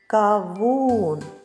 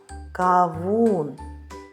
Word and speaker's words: кавун: Поставимо наголос. Кавун. Наголошеним буде другий склад. Кавун.